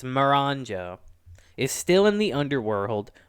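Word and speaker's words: Miranjo: Lady Marinjo, I can never pronounce her name. Maranjo, I want to say. It's Maranjo.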